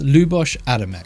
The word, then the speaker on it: Luboš Adamek: It's Luboš Adamek. I've pronounced it right, don't screw with me.